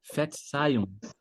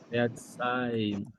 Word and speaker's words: Verzeihung: O Verzeihung. Ver, Verzeihung. Verzeihung. Aqui já é um pouco mais formal. Se você falar isso com alguém, você demonstra que você é uma pessoa até um pouco mais polida. Verzeihung.